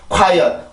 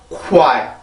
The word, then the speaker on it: quiet: 그래서 이게 quiet 이게 아니라 quiet 요렇게 소리가 됩니다.